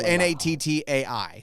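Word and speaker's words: Nattai: Well, it's it's spelled N A T AI. So, Natai.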